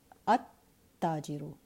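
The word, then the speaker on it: التاجر: In case of a sun letter, the lam of the lam at-ta'rif is not pronounced, rather it is assimilated into the sun letter. So for example, at-tajiru, and you see a shadda on the sun letter.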